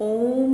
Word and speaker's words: ओम: सिर्फ ओम को लंबा नहीं करना है आपने, इसमें 3 प्रकार की ध्वनि आती है। ओ को लंबा खींचते हुए ऊ, फिर माँ